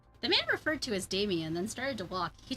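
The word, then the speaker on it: Demian: Demonian. Damian. Damian. Damian. Yeah, the E is pronounced an A.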